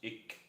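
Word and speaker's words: Ik': All right, for those of you who don't know, this is a glyph from Maya culture, Mayan glyph, which I understand is pronounced ik and represents the color black and is associated with the west to the Mayans, the Mayan people.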